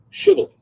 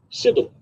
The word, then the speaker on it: Shibboleth: If the man said, no, I'm not, They would tell him to say Shibboleth. If he was from Ephraim, he would say Sibboleth, because people from Ephraim cannot pronounce the word correctly.